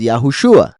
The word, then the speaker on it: Yahushua: y la ain pero por el shua de yeshua uno ya sabe que ese es yahushua O sea que se pronuncia shua y no sé espero